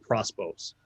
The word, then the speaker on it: Prospos: well he's i only know him as lord prospose how it's spelt p o p-r-o-s-p-o-s um as he says